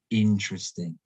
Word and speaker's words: interesting: necessary we say necessary again with this one four syllables again and again the stresses on the first syllable interesting not interesting not interesting not interesting but interesting stress now here's a